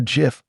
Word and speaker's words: GIF: #81SBloCloud says, Vera, is a GIF with a hard G or GIF with a soft G? GIF. It's pronounced with a hard G.